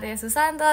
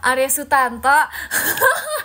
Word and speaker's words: Arya Sutanto: Yang ke-5 ada Kak Arya Susanto, terima kasih Kak Arya Susanto. Bukan, sumpah, Arya Sutanto.